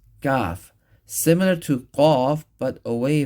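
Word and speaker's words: ك: And kaf is pronounced with an empty mouth away from the uvula, but right around here.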